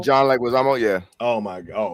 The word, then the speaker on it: Leguizamo: Leguizamo? John Leguizamo, yeah.